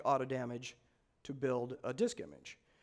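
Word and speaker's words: AutoDMG: I people started using auto damage now you go is it auto dimming or auto damage I have it from the creator's mouth himself he likes it to be pronounced auto damage so do people here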